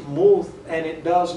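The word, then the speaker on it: מות: But it comes from a Hebrew word which is pronounced muth, and it does not necessarily mean someone who's dead and lying in a casket or something like that.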